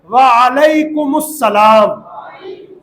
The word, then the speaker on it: وعلیکم السلام: تو واجب ادا ہوگا۔ سلام اور جواب سلام کا صحیح تلفظ یاد کر لیجئے، پہلے میں کہتا ہوں پھر آپ دہرائیں گے، کہیے السلام علیکم، اور صحیح جواب کا طریقہ ہے وعلیکم السلام۔ اللہ پاک ہم سب